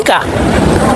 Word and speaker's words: ika: Iya ika dan saya membacanya dengan a ya karena ini masih masa transisi antara Jawa ee ee apa Jawa kuno akhir dengan zaman Islam.